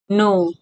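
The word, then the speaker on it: know: एन के think जानो नो के एन ओ डब्ल्यू नो इस्मा प के साइलेंट हु्छ तले के एन ओ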